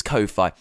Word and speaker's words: Ko-fi: I think it's Ko-Fi. Because the game with it is, well, you can buy me a coffee, but it's spelled Ko-Fi, which is a play on lo-fi, so it's kind of